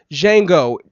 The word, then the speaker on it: Django: um so Django Jang I keep putting that D in there but I remember right I remember him saying on the film Jango Jango D is silent cuz the dude said